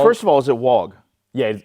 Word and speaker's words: wog: But it's pronounced, it's W-O-G. It's pronounced wog.